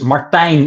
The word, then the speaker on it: Martijn: It's Martine in Dutch, but that's very hard to pronounce usually.